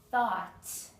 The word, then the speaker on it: thought: an F sound laugh thought the G and the H are both silent and sign the g